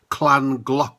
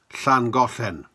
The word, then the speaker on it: Llangollen: 4 News announcer say beehives were stolen in Clan clock Clan Clan glauclan I presume he meant thangofen I've never heard it pronounced like that before I've heard clandudno for